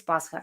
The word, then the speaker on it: Pascha: Pascha is pas. Okay. Ha. That's how you say it, because if I write it together as an H, it's gonna be shot, but it's Pascha.